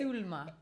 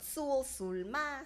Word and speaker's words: Sulma: And I am Sulma, so you kind of pronounce it. Sulma. Perfect. I was going to say like tool, but Sulma.